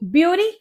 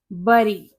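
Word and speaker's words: bury: ब्यूरी। ये ब्यूरी नहीं होता, ये होता है बरी, बरी, जिसका मतलब होता है जमीन में दबा देना।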